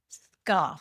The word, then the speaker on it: Scharf: correctly did actually yeah most people say sharf and I don't get upset about it because in German that's the right way to say it but when we came